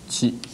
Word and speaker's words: qi: That means, in Oriental words, for Chinese pronunciation is qi.